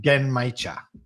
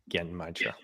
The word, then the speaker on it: Genmaicha: I actually went on YouTube this week and I searched how to pronounce it's pronounced, I think, Genmaicha. Genmaicha.